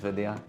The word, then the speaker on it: Vidya: videos and your name's viia that is how I teach white people to say my name like it's video but vi vi yeah but that won't